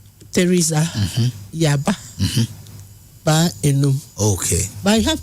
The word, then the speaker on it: Theresa: Theresa.